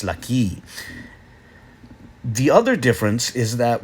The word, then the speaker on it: ለኪ: at the end of the word, it's still pronounced as if there was one there. It's laki.